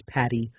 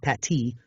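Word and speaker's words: Paddy: It is Patty, not Patty. It's with the D's is how you properly say that, folks.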